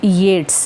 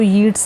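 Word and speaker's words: Yeats: ठीक है जी, तो इस पोएम के बारे में सबसे पहले जान लेते हैं कि ये लिखी है विलियम बटलर येट्स ने। इसको येट्स नहीं कहना, प्रोनाउंसिएशन येट्स है, इसको हम WB येट्स भी बोल देते हैं।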